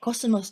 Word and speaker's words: 秋桜: 秋の桜と書いてコスモスと読むのはこの